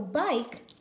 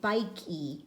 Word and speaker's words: bike: you say it so bike one syllable has that e on the end and it's a silent E we don't hear it we don't say bike key we just say bike so when we mark